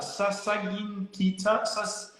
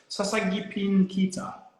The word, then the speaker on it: Sasagipin Kita: How do you pronounce that? Sasagin Kita? Sasagipin Kita.